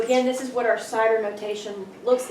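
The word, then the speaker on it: CIDR: masks we talk about our cider notation that's how you say it like apples right and we refer to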